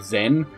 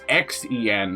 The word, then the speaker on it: Xen: It's meant to be called Half-Life Zen. Or maybe, I think that's how you say it. It's Xen, not Z-E-N. But it's meant to be like that special word.